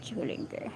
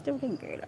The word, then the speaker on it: Duolingo: Let's see how to pronounce the app name. Duolingo. It's Duolingo, yeah.